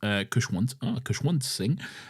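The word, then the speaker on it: Khushwant Singh: Lastly, I would highly recommend everyone read Memories of Madness, Stories of 1947 by Kushwant Singh, pronounced Kushwant Singh, which highlights the human cost of the partition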